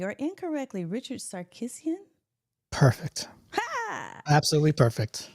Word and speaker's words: Sarkissian: house you got to tell me if I'm pronouncing your name correctly or incorrectly Richard sarisan perfect absolutely perfect it's a win look